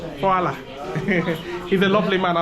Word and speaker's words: hvala: Hvala. Hvala. Hvala.